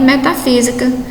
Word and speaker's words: metafísica: Aquela palavra em que a sílaba tônica recai na antepenúltima sílaba. É o que a gente percebe aí em metafísica, tá? Antepenúltima sílaba. Em lâmpada, também a antepenúltima sílaba.